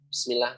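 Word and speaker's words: بسم الله: Kadang kita nih kalau lagi makan, kalau lagi apa, orang bacanya Bismillah, Bismillah, Bismillah gitu ya. Nggak ada penekanan, harusnya ada penekanan, harusnya bis, nah gitu harus jelas.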